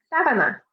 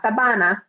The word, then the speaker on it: sábana: Sábana. Sábana. Sheet. And remember that stress on the A, the first A. So not sabana, but sábana.